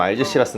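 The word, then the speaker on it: Algeciras: 영어 로 는 흔히 " 알헤시라스 " 로 읽히며 , 스페인 의 항구 도시 의 이름 을 따서 지어졌습니다 . 스페인식 발음 으로 는 " 알헤시라스 " 라고 합니다 .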